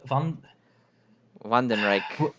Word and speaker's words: Wandenreich: group okay that sounds like something can you spell it out in chat w-a-n-d-e-n-r-e-i-c-h one van den reich well right right is kingdom like the third